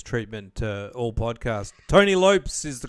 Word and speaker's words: Lopes: been um I've given you the uh the Lopez treatment all podcast Tony Lopes is the correct pronunciation all right well thanks very much Tony